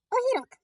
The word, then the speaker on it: огірок: Огірок. Кличемо його. Огірок. Наголос падає на О.